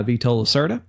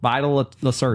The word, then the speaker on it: Vital Lacerda: I have been wanting to play this game because it's made by Vito Lacerda. Vito Lacerda? Is that how you say it? Vito? Vito? No, that's like Vital? Vital? It's Vital. Vital. Vital Lacerda.